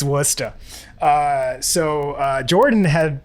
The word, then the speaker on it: Worcester: kinds of crazy words there's a c in it for no reason it's worcester yeah it's worcester uh so uh jordan